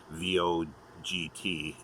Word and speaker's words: Vogt: A lot of people have difficulty or not sure how to pronounce his surname, V-O-G-T. It's Vogt, as in voting.